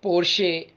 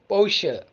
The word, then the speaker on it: Porsche: lamborghini lamborghini the third one is p-o-r-s-h-e not porsche or porsche it's porsche porsche porsche moving on to german motor company